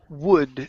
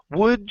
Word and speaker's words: would: this word is pronounced wood the L is silent we don't pronounce it so instead of w